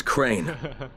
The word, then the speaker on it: Crane: store no my name's crane crane crane rhymes with train and brain and S and Grain and rain and plane and the other kind of plane and and but can